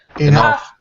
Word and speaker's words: enough: o u g good the next word is stuff and it matches with enough enough enough enough excellent